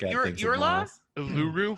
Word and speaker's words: Uluru: Uluru. Pronounced Uluru?